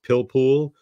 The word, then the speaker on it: pilpul: And I think the way you pronounce it, it's pilpul, P-I-L-P-U-L.